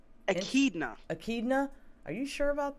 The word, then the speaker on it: echidna: of how do you say this guy's name akidna akidna are you sure about that oh yeah